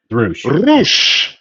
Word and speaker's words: Rush: Is it Rush or is it Roo? Rou. Okay. Well, yeah, if you want to be, you know, phonetically correct, I suppose.